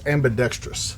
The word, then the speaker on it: ambidextrous: You're putting an extra syllable. It's ambidextrous.